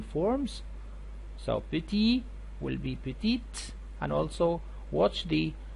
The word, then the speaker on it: petite: of the adjective so you had to pronounce the t petite and also the same